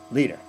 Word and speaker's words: leader: the matter is is the stress is on lead leader and the r is almost not even there as long as you stress like an American we won't notice the R so all of these